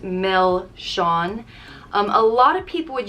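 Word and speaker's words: milseáin: it's a cone with some soft creamy ice cream and a chocolate flake so good and also milshan which means sweets it's pronounced mel shawn a lot of people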